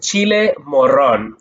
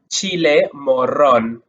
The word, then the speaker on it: chile morrón: So now the third one you could use is chile morrón. For those of you that love to roll your R's, chile morrón, chile morrón, chile morrón.